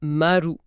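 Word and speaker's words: まる: Mais à l'oral, le zéro se prononce très souvent marou.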